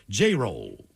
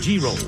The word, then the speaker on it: Jerel: My name PS is pronounced J- roll or G- roll turtles multitas.